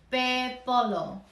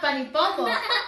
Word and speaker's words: pepolo: Purple in Tongan is pepolo. Pepolo. Pepolo. Pepopo. Not panipopo. Pepolo.